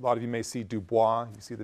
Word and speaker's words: Du Bois: it quite literally WB Dubois someone who a lot of you may see Du Bois you see the name it's Du Bois that's the way his family pronounced it W EB Dubois who